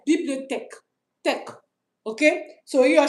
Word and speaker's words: bibliothèque: Not tech. Bibliothèque.